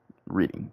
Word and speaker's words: Reading: Well, or is it Reading, Pennsylvania? My bad. It's Reading, Pennsylvania. Well, I don't know how y'all guys say it. I'm not from there. But it's spelled like Reading. It says Reading. I say Reading.